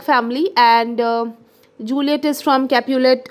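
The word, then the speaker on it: Capulet: is from Montek family and जूलियट is from कैपुलेट a family Romeo मटग एंड जूलियट कैपुलेट okay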